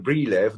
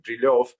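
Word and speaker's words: Брилёв: Brilev, Dr. Brilev, although in Russian it is, of course, pronounced like Brilov, but I'm so used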